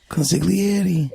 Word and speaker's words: consigliere: Yeah, but you don't have to say the G. Consigliere.